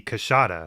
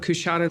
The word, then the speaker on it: Coushatta: Part of this is shown by everyone mispronouncing what I understand should be Coushatta. Coushatta. Coushatta. Even Jimmy's pronunciation guide is wrong, but this does not appear to be intentional as Peter Gould also mispronounces it.